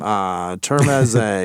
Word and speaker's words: Termeze: Termeze, because it's like Torme.